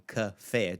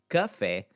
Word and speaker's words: café: And in all of these, we have a multi-syllable word in café, two letters, two syllables, I should say. It's the second syllable that's the accentuated one.